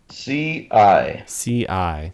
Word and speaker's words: SIAE: updates, SIAE, and that's pronounced how did you pronounce that, Mike? CI.